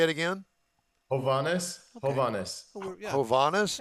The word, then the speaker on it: Hovanes Margarian: Hovanes Margarian. Good morning. I say it again. Hovanes.